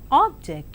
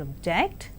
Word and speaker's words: object: So, a word can be present or present, object or object, project or project.